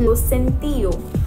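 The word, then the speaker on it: lo siento: Sorry is very cool and इट is pronounce as लोसेंटियो, लोसेंटियो.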